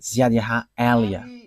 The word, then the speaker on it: Ziadiaha Elia: that is my name, so I pronounce it as my father pronounced it, Ziadiaha Elia.